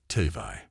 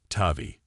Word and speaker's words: Tavi: Tvi, he attempted. Tavi, she corrected gently. The emphasis was wrong, but she'd given up on hearing her name pronounced correctly.